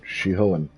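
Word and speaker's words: Shihōin: That's right, Shihoan. You see, Not how Google this pronounces is the difference between you and me.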